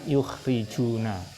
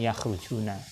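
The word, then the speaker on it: يُخْرِجُونَ: Makanya kita baca yukhrijuna bukan yakhrujuna.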